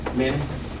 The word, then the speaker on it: Minh: Min. Minguyen? MINH. H is silent.